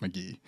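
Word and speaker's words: Mk.gee: GE great album I've been listening to it a lot check that out Joe apologize it's pronounced McGee you keep saying Kahan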